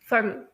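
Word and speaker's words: subtle: तो मैं आप लोगों को यह बता दूं कि जो टी है अमेरिकन प्रोनाउंसिएशन में जैसे कि मैंने आप लोगों को पहले से बताया हुआ है कि वो डी की तरह स्लाइटली डी की तरह प्रोनाउंस किया जाता है। इसी वजह से यहां पर भी इसी तरह से आएगा सडल। उसके बाद जो पांचवा लफज़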